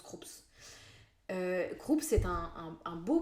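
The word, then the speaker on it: Krups: Euh moi avant je prononçais ça Craps. C'est Croups, ça se prononce Croups.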